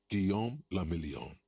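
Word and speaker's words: Guillaume Le Million: Giam Lamelon. If it doesn't rhyme, you're not pronouncing it right.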